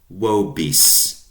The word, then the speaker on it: vobis: You guys, plural, 2 or 2 million, is spelled with a V, vos or wos, nominative, wos, accusative, wobis, dative, to you or for you.